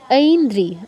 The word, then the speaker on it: ऐन्द्री: না ঐন্দ্রি, ঐন্দ্রি, দয়ের নিচে রফল্লা, ঐন্দ্রি।